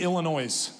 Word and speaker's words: Illinois: Revelations drives me crazy it's like saying Illinois the S is silent I don't know why